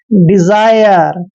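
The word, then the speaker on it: desire: पहले ई आता है और एस के बाद आई आता है तो एस का उच्चारण ज करते हैं और आई आर ई को हम आयर लिखेंगे ऐसे डिजायर डिजायर क्या होता है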